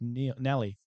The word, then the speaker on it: Nelly: I always thought it was Neil, so I'm really sorry. Anyway, wasn't it McNeil? No. Just Nelly.